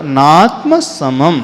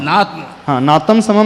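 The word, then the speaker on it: नात्मसमं: है वहां प तो नात्म समम नाम समम नहीं करना है नात्म समम करोना करो नात्म सम नहीं सम के ऊपर म के ऊपर बिंदी है ना अनुस्वार नात्म समम करोति करोति ऐसा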